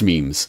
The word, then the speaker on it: memes: Not a lot of people could even pronounce memes back in 2014, if you might recall, back when people were still saying Mimi, because they had never heard the word said out loud.